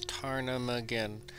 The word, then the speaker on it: ptarmigan: Ptarmigan. But the thing is it has a P in it. P-T-A-R.